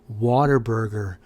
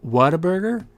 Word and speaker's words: Whataburger: little tiny place called waterburger i call it water burger it's technically pronounced whataburger but everybody here calls